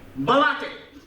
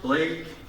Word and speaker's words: Blake: Balake. Balake. Is there no Balake here? It's pronounced Blake.